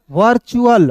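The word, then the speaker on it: virtual: वी आई R were we आई आर को क्या पढ़ेंगे? वर टी यू ए एल चुल वर्चुअल वर्चुअल मींस होता है दोस्तों आभासी होता है।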